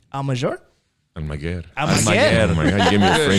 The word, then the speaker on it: Almaguer: wanted to hear how you pronounced it. Almaguer.